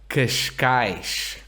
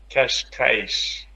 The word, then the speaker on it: Cascais: Like the town next to Lisbon. Cascais. Kashkaish. Very good.